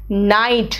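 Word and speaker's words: knight: कहा है देखो नाइफ है बेटा no knee नाइट नाइट इज a title नाइटहुड कोई व्यक्ति को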